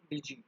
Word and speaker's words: DIGE: So basically it is pronounced by the name called DG, DIGE.